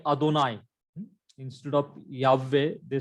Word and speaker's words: Yahweh: So the first syllable of the word is Yah, not Yehovah, not Yehovah.